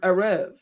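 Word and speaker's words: ערב: The word Arab comes from the Hebrew word Arev. Sometimes it's spelled E-R-E-B, A-R-A-V, Arev, the B and V can be interchangeable.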